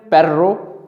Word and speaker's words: perro: In Spanish, both the trilled R and the flap occur. The former in perro, dog, and the later in pero, but.